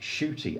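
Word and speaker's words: Ncuti: catch me by surprise NTI pronounced shoy I didn't know that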